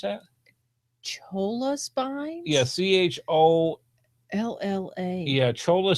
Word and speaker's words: cholla: How do you pronounce that? Cholla spines?